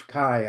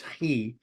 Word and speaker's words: chi: Greek letter chi, which some people pronounce chi, I guess, but in Greek it's chi, and it looks like an X.